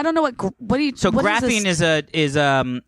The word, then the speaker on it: graphene: silk suppes ill after eating carbon nanotubes and graphene and graphic I did not realize that they had been doing this for a while I don't know what buddy to graphene is it is a it's it's a lot